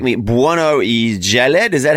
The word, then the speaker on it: Bueno-Jallad: say it now and you can correct me Jaled is that how you say how do you say your surname Bueno Jalad like that sounds so cool sounds